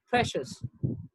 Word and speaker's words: precious: confidential terrific and precious it's not pressed yes it's precious now words ending in